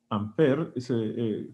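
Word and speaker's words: Ampère: debe a Andre Mag amper así se pronuncia en francés verdad todo todo gutural amper que fue el que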